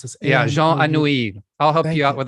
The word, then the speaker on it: Jean Anouilh: I don't know how to pronounce this. Yeah, Jean Anouilh.